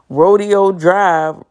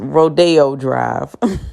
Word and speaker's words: Rodeo Drive: And I said, yeah, well, we took a trip down to Rodeo Drive. It's pronounced Rodeo Drive.